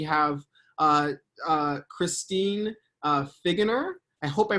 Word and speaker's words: Figgener: everyone uh yeah so as he already said perfectly pronounced my name is christine figuener and um i am